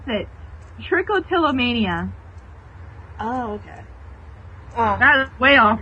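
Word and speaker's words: trichotillomania: banjo banjo no I found out how to pronounce it tricotilomania oh okay that way off from what I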